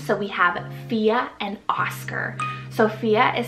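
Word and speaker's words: Fiadh: here we have Irish names so we have FIA and Oscar Sophia is spelled f-i-a-d-h so you have the Irish spelling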